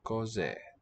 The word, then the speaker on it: cos'è: Lose that final. Ah, cos'è. Two syllables.